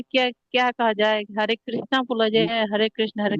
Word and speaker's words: हरे कृष्ण: कहता है कि हरे कृष्णा उच्चारण नहीं करना चाहिए क्योंकि वो द्रौपदी का नाम आता है। नहीं नहीं माता जी, हम लोग, हरे कृष्ण ये कहना चाहिए।